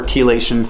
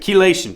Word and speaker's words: chelation: So at any rate, chelation, check it out. It's spelled Chelation. Not like it sounds.